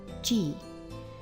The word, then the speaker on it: 自: In the context that we're going to be using it in, it will be pronounced G.